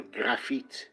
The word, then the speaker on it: Graphite: going to talk about graphite or graphite if you want to pronounce it in a French way and this perfume is